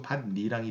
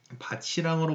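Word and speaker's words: 밭이랑: 그래가지고 반니랑이 돼. 그러면 여기서 여러분 비음화 시켜볼까요? 그러면 반니랑이 됩니다. 알겠습니까? 반니랑이 되는 거요. 자, 그러면 여기서 바치랑으로 발음해야겠군.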